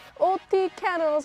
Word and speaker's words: Otyken: and like a lot of the shouts like, OTYKEN, OTYKEN, and I was like, oh, that's how you pronounce the band's name.